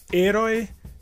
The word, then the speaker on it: héroe: E por essa razão, a sílaba mais forte nessa palavra em espanhol seria a primeira sílaba é, e em português seria a última sílaba roi.